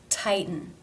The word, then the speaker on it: tighten: For example, the word tighten. Here the T is between the I as in by diphthong and the schwa-N combination. It's between two vowel sounds, but it is not pronounced as a flap. It is the stop. Tight, If you can see, the tongue does not change position between the T and the N sound.